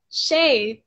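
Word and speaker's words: 谁: Shay, tapi tulisannya itu SHUI ya.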